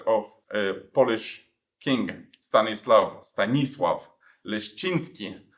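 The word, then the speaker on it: Stanisław Leszczyński: a Polish King stanislav stanislav linski you pronounce it like this in Polish and so he was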